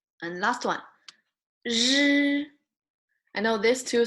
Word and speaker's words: 日: If you have difficulty to pronounce this one, just say sh longer enough, and then choose the end of your, like the end of the sound. Sh, right? If you say sh longer enough, you say sh.